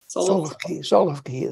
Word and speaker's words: Solovki: Places correctly, but coming to Solovki, is that how you say it? Solovki, that's right.